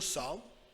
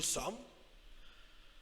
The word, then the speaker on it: sommes: ES muet, alors nous sommes. So the last letter is silent. Some, the last two letters are silent. Nous sommes.